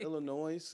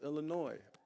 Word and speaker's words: Illinois: They're like, nigga, it's not Illinois, it's Illinois. I'm like, huh? It is Illinois. Like, nigga, the S is silent.